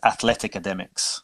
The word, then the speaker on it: Athleticademix: behind it is is to be pronounced as athletica demux so the reason for